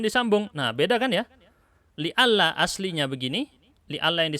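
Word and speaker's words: لئلا: Ini bacanya li'alla. Aslinya li-an.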